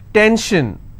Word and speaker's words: tension: SION, tension, pension. So how many syllables in tension? 2. Tension, I will stress on 10.